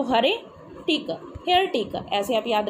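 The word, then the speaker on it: heretic: यहाँ पर, टिक, तो हरे टिक, हेयर टिक, ऐसे आप याद रखोगे इसको, हरे टिक। तो ऐसे आपको लर्न करना है। वैसे इसकी प्रोनाउंसिएशन हेरेटिक होती है, पर हम यहाँ पर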